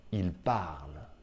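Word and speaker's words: ils parlent: C'est fou, je sais, c'est complètement fou, mais ENT ne se prononce pas si c'est la conjugaison d'un verbe.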